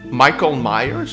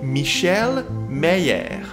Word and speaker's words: Michael Myers: is now a cassay michael myers from the halloween series well in the first movie on vhs he's called michelle mayer also dubs done in